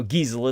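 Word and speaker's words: Geisel: is Dr Theodore Seuss gizel or gel anyhow gizel it's like diesel but you pronounce it with a G you know he uh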